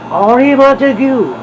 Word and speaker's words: Henri Montegut: me, goes up to the booth, and goes, "Henri Montegut, I read a lot about you," and he